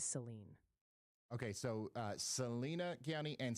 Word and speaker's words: Saline: Salina is pronounced Salina, and Saline County is Saline.